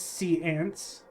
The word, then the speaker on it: séance: Yes, we all know the correct pronunciation is seance.